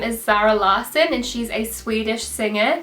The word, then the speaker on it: Zara Larsson: now her name is Zara lson and she's a Swedish singer her name's actually pronounced like sort lasson or something because she's Swedish but I'm just going